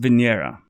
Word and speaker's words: Venera: know it passed so that's kind of cool Venera means Venus in Russia it's actually pronounced Venera 1986 the firearm owners Protection Act to sign